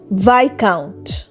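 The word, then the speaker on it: viscount: রাস্তা দিয়ে হেটে এল ভাই কাউন্ট ভি আই এস সি ও ইউ এনটি ভাই কাউন্ট ভাই কাউন্ট মানে এক ধরনের উপাধি ভাই কাউন্টে এস একদম সাইলেন্ট সো আমরা শুধু উচ্চারণ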